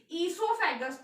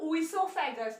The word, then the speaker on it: esophagus: Esophagus, यहाँ पर ओ जो है हम लोगों का साइलेंट होता है, that is why this word pronounced esophagus, not oesophagus.